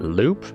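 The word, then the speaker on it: loupe: also use my my fancy how do we pronounce that Loop l o u p e all right I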